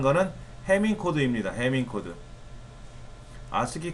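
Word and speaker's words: ASCII: 아스키 코드는 아스키라고 읽어요. 그냥 콩글리시로.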